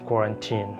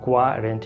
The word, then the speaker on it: quarantine: understand this this pronunciation the pronunciation of this word is quarantine I'm repeating quarantine not quadrant it will be quite